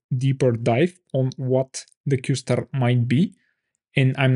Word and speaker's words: Q*: of the Breakthrough or the reuter news qar pronounced qar could be a breakthrough in the startup search